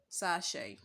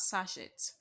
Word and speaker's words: sachet: pronounced at all so the word is pronounced as sachet sachet sachet and natasha so